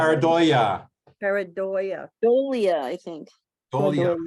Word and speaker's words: pareidolia: Paradobo, is that how you say it? Paradobo? Pareidolia.